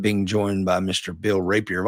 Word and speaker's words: Rapier: Bill Rapier. Am I pronouncing your last name correctly? You are. That's correct.